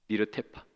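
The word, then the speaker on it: נרדפה: 근데 여러분, 여기서 힘써 여호와를 알자 할 때 이 힘써라는 단어는 히브리어로 네르테파라고 읽습니다. 니르테파.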